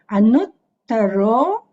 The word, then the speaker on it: Anuttaro: Then Sugato, Lokavidu, Anut, double T, Anuttaro, Purisa Dhamma, not Dhamma, this is Purisa Dhamma Sarati.